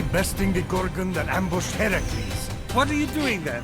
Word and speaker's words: Heracles: So, Phoenix, after boldly besting the Gorgon that ambushed Heracles. What are you doing there? That thing with your voice? Heracles?